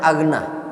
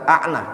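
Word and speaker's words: أَغْنَى: Itu bacanya agna. Bukan anna tapi agna.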